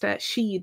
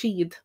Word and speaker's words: siad: So just sheed is the word, just to spell that there, and this is the word I'm saying, sheed. So that means they in Irish, sheed.